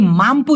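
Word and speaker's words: mampu: হচ্ছে পারা বা সক্ষম তবে এই মামপু যদি বলেন মাম পু খুব ভালো করে দেখেন এই মামপু মানে হচ্ছে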